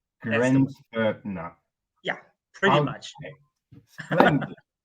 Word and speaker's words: Grenzfurthner: way in German to sometimes you spell the T with an H, but it's not a th, it's just a T. It doesn't. So the correct Austrian German way to pronounce it is Grenzfurthner.